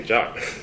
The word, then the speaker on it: JWT: And one thing that I found really interesting is that the formal pronunciation of JWT is JWT. So if you want to explain to your friends about JWT, you can just say JOT.